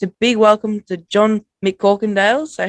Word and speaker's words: McCorkindale: big welcome to john mccorkendale so how are you tonight john you're good good mate thanks having me on appreciate it i didn't butcher the last name did i nah it's pretty long no